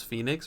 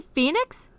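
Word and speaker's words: Fenyx: Wait, is it not Immortals Phoenix Rising? Is that how you say Phoenix?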